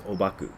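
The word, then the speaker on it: 黄檗: known by most by most japanese people as obaku and that's because the japanese pronounce the chinese characters that are used for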